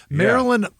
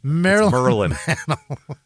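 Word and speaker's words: Merlyn: Yeah, Marilyn. That is a crazy name. Mickey and Marilyn Mantel. Merlin. It's Mer Mer. Merilyn like M E R L Y N is how you spell it.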